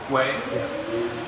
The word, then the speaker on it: Huawei: They've been doing some research on it, and her phone company, Huawei, I think that's how you pronounce it. Huawei.